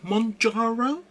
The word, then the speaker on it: Mounjaro: to be using mon murro I can never pronounce correctly monjaro monjaro m o u n j injections so